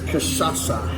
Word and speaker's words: cachaça: so the spirit is cachaça. Cachaça. Cachaça, that's the how spirit. you- So it's just like you vodka pronounce or it.